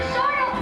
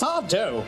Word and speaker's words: Sardo: Sardo, help us. Help us. That's Sardo. No, mister accent.